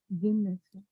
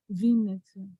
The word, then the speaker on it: Vinnytsia: Vinnytsia. Venezia. Yeah. Say it, pronounce it right? Vinnytsia.